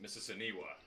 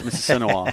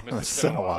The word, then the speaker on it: Mississinawa: They will face, now, guys, when I was preparing, I had to pronounce it Mississiniwa, right? It's Mississinawa. Mississinawa.